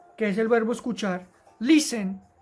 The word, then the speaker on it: listen: es el verbo escuchar listen tiene el acento en la penúltima sílaba lee listen mientras que el segundo que